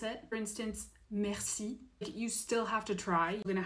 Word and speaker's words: merci: you don't have to try as hard to pronounce it. For instance, merci.